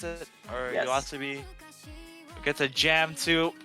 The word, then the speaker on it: YOASOBI: to jam to some Yoasobi, I believe is how you pronounce it, or Yes. Yoasobi.